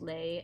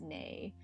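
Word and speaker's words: 你: Like, so my family says nay. So like a lot of the N sounds at the beginning of words get turned into L sounds. Um, there there's probably a more proper name for the dialect difference. Um, but my family has always called it like the the lazy pronunciation cuz cuz it goes from nay to lei and like uh I'm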